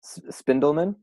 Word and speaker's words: Spindelman: do you say your last name findell minh spindel Minh yeah spindle Minh and so I met Abby through Rachel which